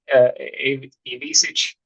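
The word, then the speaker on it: Ivišić: I could see Ivisic, is how you say his last name, maybe later into February and something.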